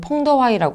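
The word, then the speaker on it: 彭德怀: 이 연합사령부의 총 책임자는 중국 측에서는 팽덕회, 중국 발음으로는 펑더화이라고 하는 사람이 맡았고 북한 측에서는 연안파의 김웅이라는 사람이 선임이 되었습니다.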